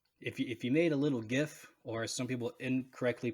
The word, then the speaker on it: GIF: to 96 and if you made a little gif or some people incorrectly pronounced jiff of the territorial swaps in afghanistan it's a